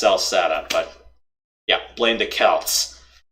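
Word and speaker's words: Celceta: Yeah, I know, it's actually pronounced Salsetta, but yeah, blame the Celts.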